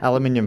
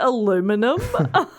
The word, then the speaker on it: aluminium: basically all foil yeah aluminium foil wrap is that how you say it aluminum lol yes uh as thought co